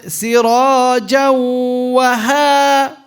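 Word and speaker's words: سِرَاجًا وَهَّاجًا: How do we merge it with the wow? Sirajawa. See what we did there? Sirajawa.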